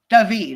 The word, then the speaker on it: Dahvid: Is it pronounced like ordinary David even though you've got the H in there? No, it's Davidided. Davided.